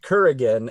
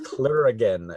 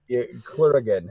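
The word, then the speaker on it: clurichaun: gonna say it wrong it's not Kuragin as in Highlander it's clear again like CL clear again who are a Fae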